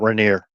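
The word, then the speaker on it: Rainier: That's Mount Reneer.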